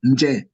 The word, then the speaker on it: nje: Nje. So nje. This will be nje, which is out. Nje. So N also always have the letter J attached together so that it's being pronounced as one word.